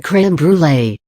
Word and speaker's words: crème brûlée: Crème brûlée, the French dessert, also known as burnt cream, is pronounced crème brûlée.